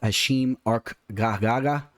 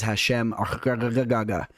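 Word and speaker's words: Hashem Arkhagha: For some of you haters of my pronunciations, believe it or not, that is actually the correct way to say his name. So if you think I'm wrong, you're actually wrong. His name is Hashem Arkagaga.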